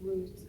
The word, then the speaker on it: Rut: My name is Ruth, R-U-T. You pronounce it like the root of the tree, but it's spelled R-U-T.